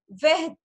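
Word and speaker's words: verte: I'm not pronouncing T, but for femina, I will say veth. T, I will pronounce T also. Okay? Veht. Veht. Is it okay to all of you? Veht. I will pronounce T also for femina. I will leave E, but I will pronounce till T. So this will sound as veht.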